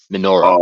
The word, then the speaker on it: Minoru: Minoru.